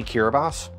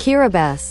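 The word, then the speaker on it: Kiribati: from what yeah I would like you to pronounce this word I'll give you a useful hint it's a country did you say kiras no no you didn't kabas kabas is an island in the Pacific so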